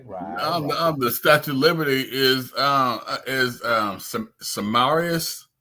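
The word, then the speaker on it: Semiramis: The Statue of Liberty is Samarius. That's how you say her name. Samarius.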